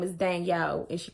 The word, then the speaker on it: Danielle: E when I say Danielle. I don't say Daniel. It's a difference in the way you pronounce Daniel and Danielle.